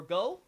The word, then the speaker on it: Gough: In there, we have good old Gough, or Go. It's pronounced in the Japanese like Go, but the English pronounces it Gough.